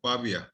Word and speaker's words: Pavia: master's in engineering from university of pavia i might pronounce it that word right baby yes you're pronouncing it right what did you do